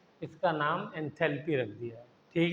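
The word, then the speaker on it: enthalpy: एंथैलोपी कहां से हो गया? एलओ कहां है? एंथैल्पी बस केमिस्ट्री में एंथैल्पी कहते हैं।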